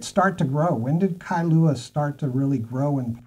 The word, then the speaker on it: Kailua: why is a town called kailua kailua two syllables is um etymologically literally